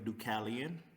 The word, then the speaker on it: Dukalion: interesting so um i go by the name ducalian and um the origin of the name comes from the greek version of noah the art builder uh whose name was actually ducalian and i i look a legit like i